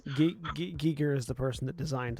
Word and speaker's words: Giger: And yeah, it is Giger. It's Giger. It's not Yeah. Geiger. I've only ever heard it as Geiger. You heard it from people who have mispronounced it. That's because Fair. it's a German, It looks like Geiger.